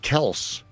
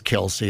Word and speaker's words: Kelce: Pronounce it Kels. That's Swift actually how it's supposed to be. Is it really supposed to be Kels? It is. Yeah, when Mom says Kelsey, I'm going to go with Mom on that.